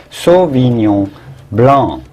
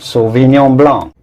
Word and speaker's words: sauvignon blanc: it the french way the genuine french way you would say sauvignon blanc the c at the end in french is silent sauvignon blanc when it starts to